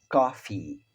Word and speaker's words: coffee: Café, coffee, coffee. Já tosse é cough, cough, cough, cough. Então, café, coffee. Veja que eu dou uma ênfase maior no i, coffee.